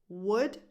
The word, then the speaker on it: would: The L is completely silent here too. Would, could, should.